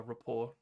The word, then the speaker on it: rapport: of is um build R rapor which is spelled with a T I believe uh let me look up how to spell rapport Define re pre report uh uh presenting oneself